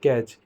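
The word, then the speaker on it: catch: यानी कि कभी भी किसी वर्ड के अंत में टी सी एच एक साथ में हो तो हम टी को प्रोनाउंस नहीं करते।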